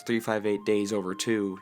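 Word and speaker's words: 358/2 Days: From a plot standpoint, this game is best served next to Kingdom Hearts 358 Days Over 2, yes that is how you pronounce it, and Knuckles.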